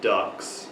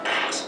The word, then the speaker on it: Dux: Bloodsport is, as it's advertised, the true story of Frank Dux. No. Bloodsport is the true story of Frank Dux. It's a little hard to pronounce because it's spelled D-U-X.